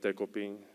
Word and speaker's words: Dekopin: So his name is Dekoping. That's a Japanese name, and I figured it'll be hard for American people to pronounce it.